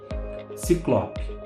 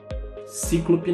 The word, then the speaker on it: Ciclope: Ciclope. Cíclope não. Cíclope não.